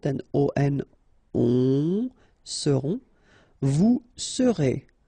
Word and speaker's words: seront: pronounced, then O-N, on, seront, vous serez, Z together at the end, et serez, alright? Ils seront, final T not pronounced, and then you've got this nasal, on, seront, elles seront.